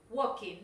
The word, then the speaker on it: walking: Igual que un verbo que tienden a pronunciar mal es walking. Walking, no walking, yes?